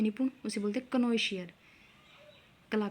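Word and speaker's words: connoisseur: की ठीक है तो देखिए आगे 103 नंबर क्नो शियर कनो शियर क्या होता है कला का पारखी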